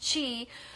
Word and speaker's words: qi: And then the energy, your chi, what we call energy, it's pronounced chi, but it's spelled QI, is able to flow freely through your body.